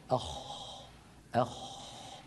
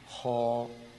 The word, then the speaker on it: خ: اليوم عن حرف الخاء الخاء تخرج من ادنى الحلق ادنى يعني اقرب منطقه من الحلق الى ظاهر الشفتين اخ اخ خا خو خي خو خي خو خي اخ وهو حرف مهموس مهموس يعني يجري معه النفس وعند نطقه لا يهتز الوتران الصوتيان لو وضعنا هاتان الاصبع هنا او هاتين الاصبعين هنا نقول اخ اخ يجب ان لا نشعر باهتزاز تحت اصبعنا بعض الذين يقراون وخاصه الذين